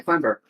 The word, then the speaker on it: clamber: But it is, you do pronounce the B.